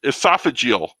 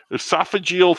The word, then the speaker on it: esophageal: call them but that's what i'm called if esophageal oh i said it right that time esophageal throat membranes how do you like that i